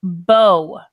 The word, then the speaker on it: Beau: It's pronounced bow. So, Bow. So when we mhm. have bow, the name, it sounds like bow, Mhm. like a ribbon in the hair for a girl.